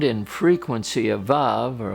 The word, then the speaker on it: Vav: the Hebrew letter was VAV is pronounced VA it isn't a dominant